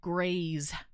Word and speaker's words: Grez: G R E Z. Graze.